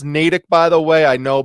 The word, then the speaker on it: Natick: the natick police department starts and it is pronounced natick by the way i know because my brother